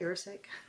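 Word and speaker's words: erucic: oleic galileic and irritic I can't pronounce I'm going to spell it e-r-u-c-i-c actually do you know how to say that you're sick so due to the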